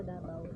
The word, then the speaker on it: Davao: 'Yung mga lokal sa Davao ang tawag nila ang tamang pronunciation sa Davao, Davao. Pag nandon ka na Davao.